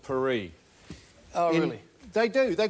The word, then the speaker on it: Paris: you something Paris right p a r i s in Australia we call it Paris in France they call it perie oh really they do